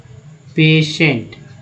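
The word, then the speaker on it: patient: तो मैं बताऊंगा एक सारा एग्जांपल, जैसे देखिए पी ए टी आई ई एन टी, है ना, अब इसे उच्चारण करते हैं, क्या पढ़ते हैं, पेशेंट। अब बताइए लास्ट में टी लिखा हुआ था, ट आ गया, पी ए लिखा हुआ तो पे हो गया, एन से हो गया ना, तो टी आई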